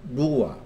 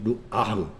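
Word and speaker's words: רוּחַ: 그러니까 거룩한 영거렸을 때 거룩한 바람이란 루아. 이 루아의 정확한 발음 루아흐겠죠. 루아흐.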